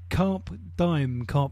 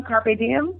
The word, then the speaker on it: Carpe Diem: rotation, and also we're slotting in is it Carp Diem? Is that correct pronunciation? Which one, Carpe Diem?